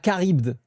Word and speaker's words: Charybde: D'ailleurs, Poséidon n'a pas peur de Scylla, mais surtout de Charybde. Ah, Charybde. Ah, c'est ça la prononciation.